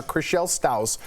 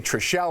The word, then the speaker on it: Chrishell Stause: star Chrishell Stause recently, did I say her name right? Yeah, you did. Wow, that's a first time. Yeah. Said she still, I don't know why I always say Trishelle or Stow, I don't know what.